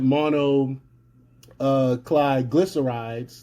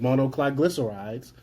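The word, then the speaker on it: monoglycerides: But despite all this, the WEF, Gates, and other globalist entities are insistent that monocliglycerides, that's how you say it, monocliglycerides, the main ingredient in Organipeel and Apeel, are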